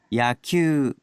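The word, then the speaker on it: 野球: 야큐, 네, 야큐 했는데 큐 우단음이죠. 큐 유가 우단음이잖아요. 우크수츠는 흐무유루. 그래서 우단음 뒤에 우가 와도 네, 이 우는 발음하지 않고 큐를 그 앞에 있는 우 앞에 있는 우단음을 두 박자로 발음해 준다는 얘기예요. 야큐, 야큐, 그래서 야큐 유 큐를 두 박자로 끌어주시면 돼요. 그래서 큐 하면은 야큐, 야구라는 단어가 돼요.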